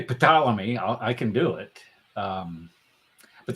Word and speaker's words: Ptolemy: And Wait, he isn't it Ptolemy? No, Ptolemy. This No. P is silent.